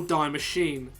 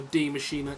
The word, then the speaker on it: Die Maschine: your way around the map d machina or dye machine depending on how you want to pronounce it even though d machina is the correct pronunciation i know that some